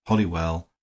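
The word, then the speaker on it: Holywell: to the fact that it was pronounced hollywell by the most ignorant and old-fashioned of the poor but it is spelled wrong and pronounced right do you mean to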